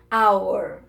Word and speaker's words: hour: An egg, an eraser, iniciadas por H, quando este não for pronunciado. Eu tenho o H ali, mas eu não ouço esse som. Olha lá. An hour.